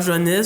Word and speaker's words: Joannes: Et maintenant, on a donc on a Johannes, c'est comme ça qu'on prononce? Johannes, oui.